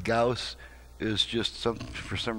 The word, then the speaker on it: Gauss: of the word I always thought it was pronounced Goss so you may uh you may hear me pronouncing that word Goss from time to time uh saying gaus is just some for some reason a really